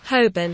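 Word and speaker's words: Holborn: in London called hurn um spelled hin but pronounced hobin and I use the free app polycam on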